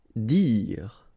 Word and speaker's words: dire: Dire. Same thing here, you don't insist on the final okay, dire.